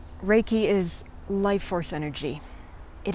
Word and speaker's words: Reiki: Reiki is life force energy. It is made up of two words in Japanese, rei and ki. Many times people say, how do you say that word? Reiki.